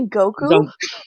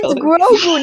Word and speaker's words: Grogu: I'm sorry, did you say Goku? Is that not how it's pronounced? It's Grogu, not Goku. Grogu.